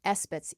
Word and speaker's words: esbat: And the you might say minor ones are called espets e sb- a t and those are the